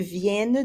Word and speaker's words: viennent: You want to make sure you get that hard N sound in there when it's plural. Plural, third person. Les filles viennent de commencer à faire le gâteau. Les filles viennent juste de commencer à faire le gâteau.